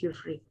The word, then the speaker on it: Jufri: I'm not sure if I'm pronouncing your name correctly. Bro Jufri. Her name is Jufri. Jufri. Yes. Yes, miss. Okay, Jeffrey.